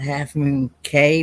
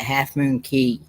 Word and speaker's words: Half Moon Cay: they I call it half moon K but they call it half moon key it's pronounced most people pronounce it key even though it's even though it's spelled c-a-y hey shoe devil thanks